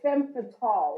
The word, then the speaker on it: femme fatale: It's French. Like it's femme fatale.